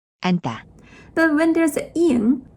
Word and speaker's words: 앉다: Those 2 words have totally different meanings, but they are pronounced same. 앉다, 앉다.